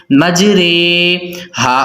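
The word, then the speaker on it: مجريها: کو امالہ کہتے ہیں۔ امالہ کی را کو قطرے کی را کی طرح پڑھیں گے، یعنی ری نہیں بلکہ رے پڑھیں گے۔ تو اس کی ہجے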